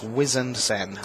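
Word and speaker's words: Wizened Cenn: It's Harbinger, and it's Wizened Sen.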